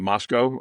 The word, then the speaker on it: Moscow: I live in a little town called Moscow. People pronounce it Moscow, and I teach across the border at Washington